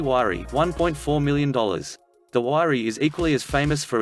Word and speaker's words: Huayra: hour 8 Pagani Huayra 1.4 million dollars the wirey is equally as famous for its odd sounding name as it is for its face-melting performance named after the Incan God of winds the wiry pronounced whare boasts an AMG sourced 6.0 liter v12 with